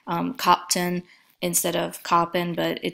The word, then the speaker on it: Köppen: Sometimes it's pronounced Köppen instead of Köppen, but it just varies based on the source that you see.